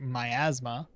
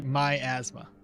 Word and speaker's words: miasma: Believe me, for my Latin language speaker, miasma is written but pronounced differently. So for us, it's literally my asthma.